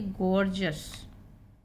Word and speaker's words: gorgeous: GORGEOUS, इसको पढ़ेंगे गॉर्जस।